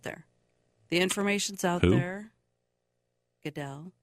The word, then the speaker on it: Goodell: the information's out there Goodell Goodall I was like who the hell is Goodall he said his name wrong um yeah I just